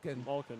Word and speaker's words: Malkin: Malkin, yeah.